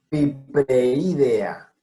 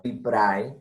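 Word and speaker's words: Pipraeidea: Pipreidea. No piprae, sino pipreidea. Melanonota. Aquí este ejemplo es bueno porque, tengan en cuenta, el diptongo se produce cuando es AE, no cuando es EA.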